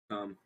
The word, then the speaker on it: Camilla: Camilla is pronounced Cumilla.